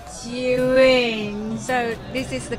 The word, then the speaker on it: Zhiyun: Zhiyun, Zhiyun. So this is the correct pronunciation for Zhiyun.